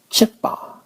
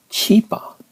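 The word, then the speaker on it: ချစ်ပါ: It's chippa, not cheapa.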